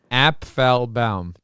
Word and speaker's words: Apfelbaum: She's going to introduce you, but I want to your confirmation on how to pronounce your last name, please. Apfelbaum. Apfelbaum? Yeah, Apfelbaum.